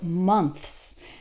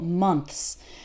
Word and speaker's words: months: then s so words like months that's really hard because we have a th which is a sound that might not exist in your native language and then followed by an S and that transition can be quite difficult months remember that for th your tongue is between your top and bottom teeth okay do this in